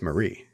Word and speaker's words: Mary: with this Mary doll despite the spelling Being Mary she pronounces her name as Marie hello I'm Marie I